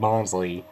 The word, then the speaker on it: Bonsly: Yeah, it's Pidgeot and Bonsly. It's being renamed, which I can tell it's pronounced Bonsly because you know that's